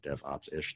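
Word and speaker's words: DevOps'ish: I run a newsletter called DevOps’ish, ISH. So DevOps’ish, three syllables.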